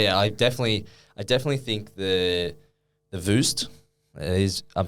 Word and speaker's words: Voost: But yeah, I definitely think the Voost is, I'm saying it right.